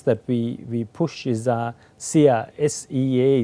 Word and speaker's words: SEA: Yeah, one of the top brands that we push is SEA, S-E-A it's spelled, but it goes as SEA.